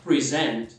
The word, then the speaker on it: present: certeza conhece a palavra present, mas já se tocou que o verbo é a mesma palavra, o verbo apresentar ou presentear, só que a sílaba tônica quando é o verbo cai na segunda, present.